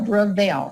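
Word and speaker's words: BreVail: Another one that I recommend is called Bravail. It's spelled B as in boy, R as in Roger, E as in Edward, V as in Victor, A-I-L, Bravail.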